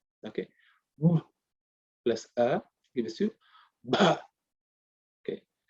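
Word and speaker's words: भ: Okay, plus A gives you Bha. Okay, generally people from the south may not pronounce it. They will say Ba. It's not Ba. It's Bha.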